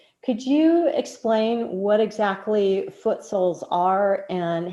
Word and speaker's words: Footsouls: And so then I came up with the whole branding along with so Footsouls, if you don't know it, it's spelled SOULS, like your soul.